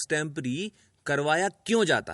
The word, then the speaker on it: extempore: हैं कुछ लोग इसे एक टेंपो भी बोलते हैं कुछ लोग इसे एक टेंपो रे भी बोलते हैं पर शब्दों का सही उच्चारण टेंपररी है है और इसी को